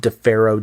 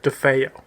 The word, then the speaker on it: DeFeo: Ronald DeFaro Jr. DeFeo. Oh, it is DeFeo. Yeah. Yep. Sorry, everybody. It's Ronald DeFeo Jr. I don't know where I got the R there.